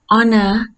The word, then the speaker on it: honor: Honor, hour, because it's not pronouncing H. It gives vowel sounds.